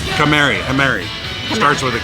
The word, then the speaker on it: Kamari: Mary? Kamari.